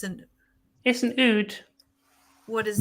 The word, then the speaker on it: oud: It's not even a lute, then it's an oud. What is Oud. nude? Oud. How do you spell that?